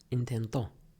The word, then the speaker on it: intentó: If I say intento, if I put the accent on the end, it means something else. It means he tried, which is going to be useful for us later.